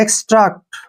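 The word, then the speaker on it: extract: पर next word है ई एक्स टी आर ए सीटी इसको हम एक्स्ट पढ़ते हैं एक्सट्रैक्ट ठीक है ना एक्स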